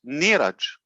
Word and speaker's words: Neeraj: His Indian pronunciation is Neeraj.